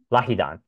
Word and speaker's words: LAHIDAN: How do you say it again? So I can get this right on record. LAHIDAN? LAHIDAN.